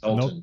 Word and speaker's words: Knowlton: Is that pronounced? Yes, Knowlton.